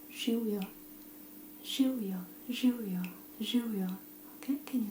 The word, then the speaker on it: živjo: Živjo.